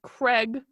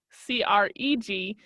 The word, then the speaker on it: Craig: she says I swear if you crazy Americans pronounce that as Craig c r EEG I will die inside it's Craig Craig she